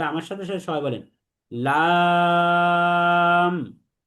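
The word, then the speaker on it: لام: তাহলে আমার সাথে সাথে সবাই বলেন লাম। লাম।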